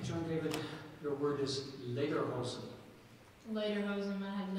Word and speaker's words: Lederhosen: No, that is the only pronunciation. Tuckahoe. T-U-C-K-H-A-O. Tuckahoe. Okay, John David, your word is lederhosen. Lederhosen, may I have a definition, please? Lederhosen are knee-length leather trousers worn, especially in Bavaria.